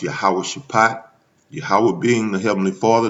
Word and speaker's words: Jehoshaphat: When you talk about Jehoshaphat in the Hebrew, it's pronounced Yahweh Shaphat.